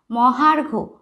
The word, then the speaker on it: মহার্ঘ: মহার্ঘ, মহা ঘয় রেফ, মহা ম হয় আকার, ঘয় রেফ, মহার্ঘ। হয় আকারের পরে কিন্তু একটা রয়ের উচ্চারণ করছি, মহার্ঘ।